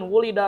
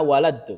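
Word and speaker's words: وُلِد: Jadi orang Arab itu untuk kata lahir saya lahir bukan ana waladu bukan budaya di sana itu bukan seperti tapi dimajhulkan, ana wulid.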